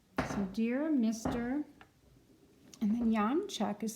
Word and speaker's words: Janczak: a stockman on the bottom yon Chuck and his name is doesn't sound anything like we would spell it in English but it's J a